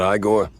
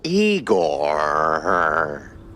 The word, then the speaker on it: Igor: I'm E I not Igore. No, Eigore.